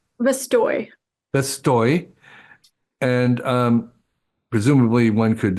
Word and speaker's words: Vestoj: How's it pronounced? Vestoj.